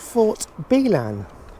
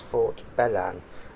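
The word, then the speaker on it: Fort Belan: to a place called Fort bean I think I've mispronounced it it's Fort bellan uh excuse my future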